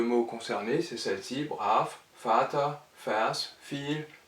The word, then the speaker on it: Vater: F comme en français, mais avec un V qui en allemand se prononce toujours V, et ces mots-là sont alors prononcés F alors qu'ils sont orthographiés avec V.